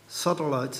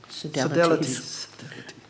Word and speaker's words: sodalities: The research paper that you submitted, Māori sodalites, is that how you say it? Sodalities.